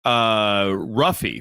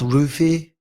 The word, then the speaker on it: Ruffy: Ruffy from Fighting Nerds tweeted out that he would. I do believe it's pronounced Roofy.